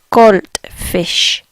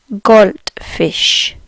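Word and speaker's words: Goldfisch: is in English, but the way they pronounce gold is very different. If they say gold, again the D's get a bit of a T sound.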